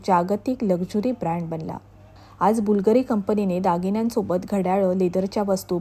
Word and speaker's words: Bvlgari: उच्चार कसा करायचा तर प्राचीन लॅटिन वर्णमालेत यु अक्षराच्या ऐवजी व्ही हे अक्षर वापरले जाते त्यामुळे बुलगरी स्पेलिंग लिहिताना यु ऐवजी वी वापरले असले तरी त्याचा उच्चार यु प्रमाणेच होतो 2011 पासून बुलगरीची मालकी